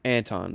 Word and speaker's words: Anton: Anton, that's it.